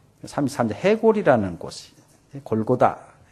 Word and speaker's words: 골고다: 33 해골이라 곳이 골고다 해골의 해 히브리 발 발음이 골고다 예 그쪽 십자가에 달신 언덕 모양이 아마 해골 같아서 골고다 아고 붙였다는 말도 있고 그곳에 사형 집행장이기 때문에 해골이 많이 있기 때문에 해골이라고 즉 히브리 발음으로 아람 발음으로 골고다는 어 해골이라 뜻을 가진 히브리어로 골고 라고 했다는 말도 있습니다 근데 우리가